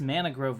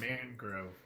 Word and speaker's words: mangrove: And that's You say Mana Grove? Yeah, is that how you say it? Mangrove? Mangrove. I'm sorry, I like to add syllables whenever I think that there should be. So, you're putting the wrong you're putting the emphasis on the wrong syllable.